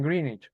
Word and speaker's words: Greenwich: el meridiano de Green Greenwich de Greenich, sí, en en Londres, allá pronuncian Greenich, es Greenwich, Pero bueno, eh, en Londres pasa el Meridiano cero.